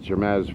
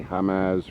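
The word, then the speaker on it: Jemez: Mexico that's about 20 miles from Jimenez but it's spelled je m easy Jumeirah germ as river or I should say hum as River out here it's way out in the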